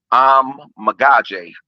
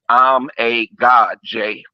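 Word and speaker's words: Amegadjie: other day Kieran and it's pronounced I'm magaj like I'm a God Jay okay he's a good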